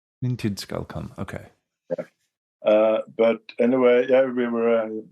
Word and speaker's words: Min tid skal komme: Can you give the correct pronunciation? Min tid skal komme. Min tid skal komme.